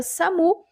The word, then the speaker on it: SAMU: o significado da sigla S A u que a gente pronuncia Samu é serviço de atendimento